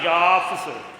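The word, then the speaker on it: یافث: سام، حام اور یافس۔ یافس بن نوح، یافس بھی کہتے ہیں، یافس بھی کہتے ہیں، لیکن اصل تلفظ اس کا یافس، فا اور سا دونوں ساکن ہیں۔ تو یافس بن نوح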